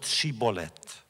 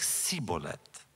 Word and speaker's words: shibboleth: the Ephraim warriors were incapable of pronouncing the word shibolet on their lips it sounded like siet and so it was